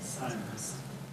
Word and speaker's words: Simons: And then the only other thing I have tonight is, Lucas, is your last name pronounced Simons or Simmons? Simons.